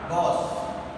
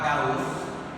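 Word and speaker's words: Gauss: পরবর্তীতে 1832 সালে কার্ল গস বা গাউস, কেউ এটাকে গস উচ্চারণ করে, কেউ গাউস উচ্চারণ করেন, তিনি 1832 সালে এই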